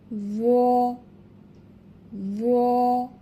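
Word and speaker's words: ظ: জ, জ। মোটা হরফ, গাল ভরে উচ্চারণ করতে হবে। এবং এর মাখরাজ অর্থাৎ উচ্চারণের স্থান লক্ষ্য করি। জ উচ্চারণ করতে হবে জিহবার আগা, সামনের উপরের 2 দাঁতের আগার সঙ্গে লাগায়া।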